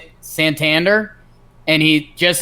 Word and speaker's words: Santander: It's like, actually, it's really a feminine sounding version. So just be dainty with it. Don't say my name with any hard punctuation. Just as dainty as you can possibly say my name. That's how you say it.